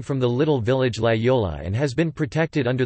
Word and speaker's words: Laguiole: Laguiole, French pronunciation, Laguiole, locally Laguiole, sometimes called Tome de Laguiole, is a French